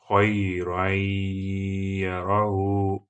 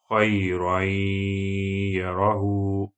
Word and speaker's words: خَيْرًا يَرَهُ: Now apply rule of idgham and the first type of idgham. So it will be خَيْرًا يَرَهُ خَيْرًا يَرَهُ خَيْرًا يَرَهُ.